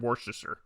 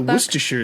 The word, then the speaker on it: Worcestershire: to pass you the worcestershire sauce don't sweat it pronunciations of this condiment vary based on where you're from but most people skip the first r all together those so